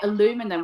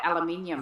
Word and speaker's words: aluminium: Yeah, I mean there's different words where you could put the emphasis on different parts of the word and it does happen like oh what's what's some examples I can think of? Um oh you say aluminum, we say aluminium.